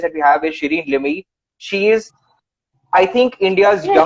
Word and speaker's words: Limaye: we have is Shireen Limi. She is, I think, India's Yes, youngest. how are you pronouncing my name? Shireen. Okay, let's stick with Limay. Shireen, right? I'm gonna teach you Limai.